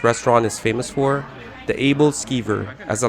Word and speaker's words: Aebleskiver: to what this restaurant is famous for the able skiver as i like to pronounce it the abled skiver is basically a